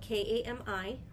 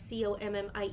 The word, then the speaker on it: kami: when we say kami, it's spelled Kami, not Commie like communists and communists.